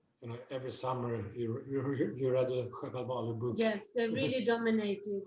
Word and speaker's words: Sjöwall: Sjöwall?